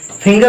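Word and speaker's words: finger: फिंगर हो गया, फिंगर में एफ आई एन जी ई आर होता है, एफ आई एन जी ई आर होता है, जी के बाद में ई आया लेकिन गा पढ़ रहे फिंगर।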